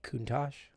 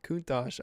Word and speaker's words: Countach: That'd probably be Countach, like the Lamborghini. Is it spelled with a CH at the end? Yep. Not Kuntosh.